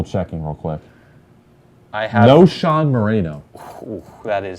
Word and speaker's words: Knowshon: I have No Sean Moreno. Ooh, that is. I will spell it Know. No Sean Moreno. It's Knowshon Moreno.